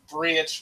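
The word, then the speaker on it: Bríd: it is pronounced but then you have Bri which is spelled like Bridget and you have um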